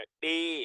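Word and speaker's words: ڏ: अब बहुत difficult word है जो आमतौर पे जो नेटिव स्पीकर नहीं होते तो उनके लिए उनके लिए बहुत डिफिकल्ट है इसको प्रोनाउंस करने का। डे।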